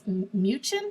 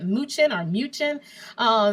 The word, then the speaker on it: Mnuchin: Well, the Treasury Secretary, Stephen, I think it's Mnuchin, I think that's how you say it, Mnuchin, said on last Wednesday that the checks will be going out within 3 weeks.